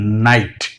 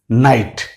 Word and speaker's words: night: কোথাও যদি IGHT একত্রে দেখেন, মনে রাখতে হবে এর উচ্চারণটা হচ্ছে আইট।